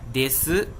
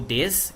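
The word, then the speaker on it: です: Hoje nós vamos falar sobre como utilizar des ou des, como você preferir pronunciar, como verbo ser.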